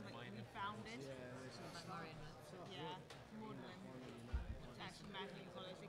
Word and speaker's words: Magdalene: Yeah, Maudlin. That's from Magdalene College. They couldn't change the name, so they changed the pronunciation.